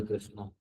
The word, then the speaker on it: कृष्ण: कृष्ण, कृष्णा बोल देते हैं।